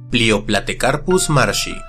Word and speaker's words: Plioplatecarpus marshi: ocasión realizaremos la historia y el cómo se pronuncia leo platicar plusmar si el género viene del griego play on que